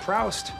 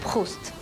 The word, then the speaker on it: Proust: Look, it's not Proust. It's pronounced Proust.